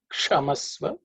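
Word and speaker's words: क्षमस्व: Kshamasva, again, ksha is the cerebral ksha.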